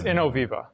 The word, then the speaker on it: Innoviva: check mark there is it in novi i can't pronounce this stuff you know it's innoviva innoviva thanks thanks bro um wow wait what